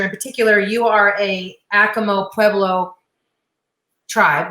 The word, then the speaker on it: Acoma: In particular, you are a Acoma Pueblo tribe, right?